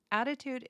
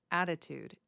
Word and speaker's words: attitude: And just as a pronunciation guide, I want to show you how I am pronouncing attitude. If you notice, I am not saying attitude, which is how it is spelled.